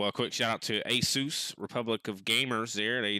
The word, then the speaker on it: Asus: Yeah, also a quick shout out to Asus, Republic of Gamers there. They definitely... I was told it was Asus. it is. It is Asus.